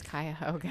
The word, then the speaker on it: Cuyahoga: I swear on my life, it's Cuyahoga.